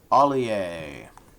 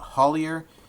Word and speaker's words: Ollier: Ollier. Some people call it Hollier. I think either pronunciation is correct. I think if you're from Louisiana, I think you pronounce that Ollier.